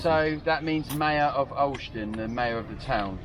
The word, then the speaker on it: Olsztyn: Pronounce that again? Olsztyn. Olsztyn.